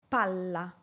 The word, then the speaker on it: palla: PALLA - PALA Para pronunciar la doble "L", debo alargar el sonido de esta letra y dar menor énfasis a la vocal que la precede, en este caso la letra "A". PALLA. PALLA. El sonido de la "A" debe ser breve, mientras el sonido della "L" debe ser largo.